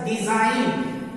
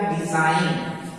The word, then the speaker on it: design: उसी तरह से डिजाइन DESIGN, तो यहाँ n के पहले जी है तो जी साइलेंट रहेगा, तो हो जाएगा डिजाइन।